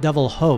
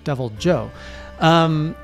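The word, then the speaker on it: Deviljho: Not Devil Ho, by the way. Not pronounced like the Spanish, but Devil Joe.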